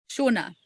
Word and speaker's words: Shona: Shona. It's like the Scottish name Shona.